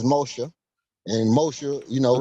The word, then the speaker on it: Moshe: You know, the name, first of all, Moses ain't even how you pronounce Moshe.